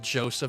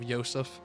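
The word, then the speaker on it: Josef: I like how most kids back in the day were probably going to be pronouncing it Joseph instead of Yseph.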